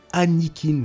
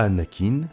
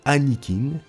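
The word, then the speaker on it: Annikin: premier fils attention s'appelait anne eakin starkiller pas anakin annick in vous mettrez à l'écran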